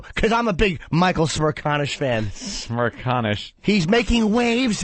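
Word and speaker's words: Smerconish: 56th place is a guy, I can't even pronounce his last name. I can. It's Michael Smirkanish.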